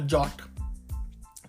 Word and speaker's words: JWT: are implemented today with something like a jot which is spelled as JWT or JSON web token.